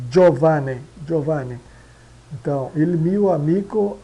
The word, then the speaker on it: Giovanni: O G e o I. da Jo, jo de, né? Di ele, esse aqui fica quase eh não não aparece na na na pronúncia, né? Giovanni.